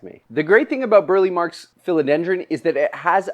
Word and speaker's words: Burle Marx: coming out of and I already realized I said it wrong it's Burly marks or bully marks which is a Brazilian